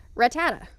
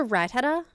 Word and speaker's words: Rattata: I'll say like Rattata, because for me it's like a rat-a-tat-tat sort of thing, Yeah. and someone's like, "It's a Rattata."